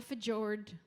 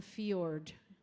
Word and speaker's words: fjord: going to see it hopefully in a fjord not a fajr a fjord you can correct everyone